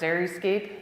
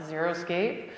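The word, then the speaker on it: xeriscape: it's water conservation through Creative Landscaping and it's pronounced Dairy scape not zeroscape it's planning and design using good soils and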